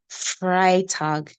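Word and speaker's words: Freitag: just like you have Friday now it's called fry tag you see fry tag and then this tag that you talk about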